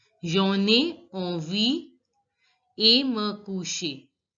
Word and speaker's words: coucher: So it is j'en ai envie et me coucher. Here also ER is in the end of the word, so it is pronounced as AY. Et me coucher quand je suis fatigué.